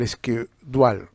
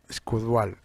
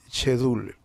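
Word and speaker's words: schedule: Habíamos hablado de este material que es el escudual, ¿no? Escudual, así se pronuncia, ¿no? Escudual. Algunos le dicen chedul, ¿no? Chedul, pero no, o sea, en inglés, squash dual, ¿no?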